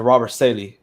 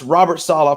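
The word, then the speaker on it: Robert Saleh: because there is no such thing as a robber sailing here it is pronounced robert sala please spit some respect on that name it's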